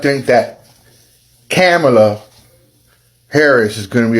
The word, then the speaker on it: Kamala: show up with racism and misogynoir by not pronouncing the vice president's name correctly. It's Kamala. It's Kamala.